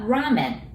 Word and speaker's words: ramen: And what about ramen? And as you notice, it starts with R. We don't have R sound in Japanese, so we pronounce it like L, right?